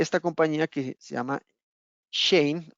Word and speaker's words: Shein: Bien, entonces nace esta compañía que se llama Shein, o se pronuncia Shein, ¿cierto? Porque realmente es una compañía de origen chino.